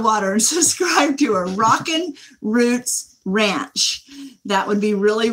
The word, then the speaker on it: Rockin' Roots: Rockin' Roots. It's ROCKIN with a little apostrophe.